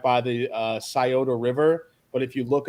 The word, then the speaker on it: Scioto: And I was telling everybody, yeah, I got a new apartment over by the Scioto River. And That's the Italian pronunciation.